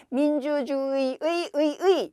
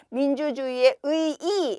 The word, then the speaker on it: 민주주의의 의의: 그대로 정리해 놓은 거예요 민주주의의 의의 요렇게 읽어도 되고요 민주주의의 의이 해도 되고요 민주주의의 의의 민주주의의 의이 민주주의의 의의 이렇게 발음해도 되고 민주주의의 의의 민주주의의 의의 여기서는 이에 렇게 달라지는 거죠 그 조합의 수가 지금